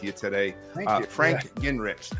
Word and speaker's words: Guengerich: Frank Guengerich. There's a lot of silent letters in that name.